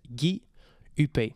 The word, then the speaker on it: Gui Huppé: My channel name is my actual name and it's pronounced Guy Huppé.